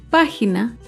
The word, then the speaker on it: página: Otro ejemplo de una palabra esdrújula es página. Página se acentúa en la antepenúltima sílaba.